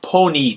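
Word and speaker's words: ponī: the end there and replace that with a long I so panetta to put becomes Pony to get put and capita to catch becomes copy to get caught not capetti not polarity but just Pony and copies so we lose that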